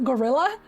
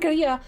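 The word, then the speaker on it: guerrilla: get this quest line the face when you learned the spanish pronunciation first and now you're confused every time someone says guerilla as gorilla i know i said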